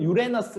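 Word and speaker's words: Uranus: 아버지가 우라노스 라고 있는데요 우라노스 크로노스 그 다음에 재울 수 이렇게 나가요 근데 그 크로노스 라는 분이 우라노스 영어 발음은 유에너스 라고 있는데 보통 그거를 이제 그냥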